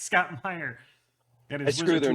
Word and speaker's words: Meyer: say scott meyer i i called him scott mayer when i introduced him and he was like nope it's it's spelled that way but it sounds it's meyer and i was like